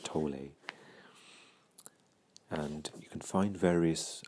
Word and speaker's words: Tolle: teacher called eckhart tolle some people pronounce that eckhart tolle and um i i think you can probably use both i do think he minds but i'm used to the pronunciation of tole and you can find